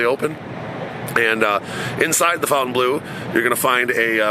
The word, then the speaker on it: Fontainebleau: the Fontaine Blue the fountain blue some people pronounce it one way I pronounce it Fountain Blue that's basically uh the